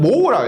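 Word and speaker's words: mho: 읽을 때는 모라고 읽어요. 모.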